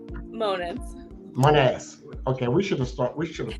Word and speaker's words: Monitz: His co-host is Trish Primo and Chris Jones, Unc, and our guest, special guest, is Lauren Monitz. Did I pronounce that right?